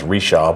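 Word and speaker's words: Richard: rishaw bridge okay uh it's French Canadian um so it's our English version of pronouncing his pronouncing his name right but jean Baptist rishard was who and it becomes rishaw but the rishaw bridge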